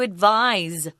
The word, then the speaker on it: advise: so what would you advise if you advise someone that's a verb form of this word advice notice the difference in pronunciation advice if someone gives you